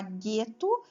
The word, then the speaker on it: gueto: nós temos quatro fonemas porque quando a gente fala gueto a gente pronuncia o g e o juntos os dois juntos formam um único fonema e daí o e